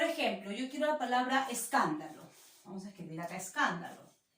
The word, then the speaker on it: escándalo: Escándalo, ¿verdad? Está tildada, pero quiero identificar las sílabas átonas, las más suaves. Acá son, en las sílabas átonas son varias en una palabra. Por ejemplo, está es, da y lo. Son las sílabas átonas, son las sílabas